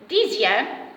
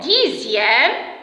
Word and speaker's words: dixième: Alors, maintenant, pour le son ZE, dans quel mot j'entends le son ZE? Bien sûr, dans les mots dixième et sixième.